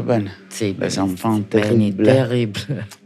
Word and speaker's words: Les Enfants Terribles: E la prima formazione si chiamava Les Enfants Terribles, pronunciato bene? Sì. Les Enfants Terribles.